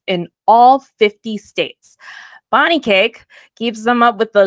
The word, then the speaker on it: Kaake: of you that don't know Bonnie cake which she we talked earlier she's like my name's pronounced like birthday cake um but I was